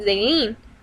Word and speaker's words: Zaylene: And I'm like, "Let me see," and then it said Zaylin, and because the way he pronounces his I's, he pronounces them E's, so he said Zaylene.